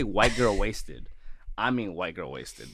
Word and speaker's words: Watsed: They are from the band Wasted HXC, but the HXC is silent, so you don't say it, but I wanted to say it because I saw it in the bio.